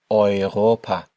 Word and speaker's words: Europa: Remember our pronunciation here for the letters E and U together. Europa, Europe, Africa, Africa.